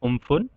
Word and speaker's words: Amphan: Cyclone एम्फन, it is pronounced as Umphan.